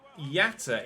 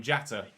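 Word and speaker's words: Jatta: hell of a goal they pronounce it yata in commentary baccariata gambian footballer i be honest i don't know what the native language in gambia is i've been calling him jata do let me know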